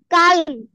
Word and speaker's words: calm: কাম pronunciation হবে কাম না। চুপ থাকো। Calm.